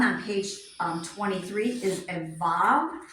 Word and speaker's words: Vav: So the first page, or the 6th one on page 23 is a vav. It tells you how to pronounce it. Vav, as in V-A-V. Actually, it says V-A-H-V, and it shows you how to write it.